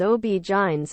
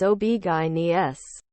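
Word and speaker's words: OB-GYN: in written form online I grew up hearing them referred to as OB jines OB guyes as in obstetrician gynecologists which I always thought should be the preferred pronunciation over spelling it like it's an acronym I'll let the OB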